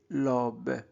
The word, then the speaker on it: l'aube: Dans notre quartier, les rues s'animent des lobes. AU se prononce O, l'aube. Dès le matin, donc E